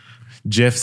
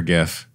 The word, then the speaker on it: GIF: GIFs have like changed the game too. Do you say GIF or GIF? I say GIF.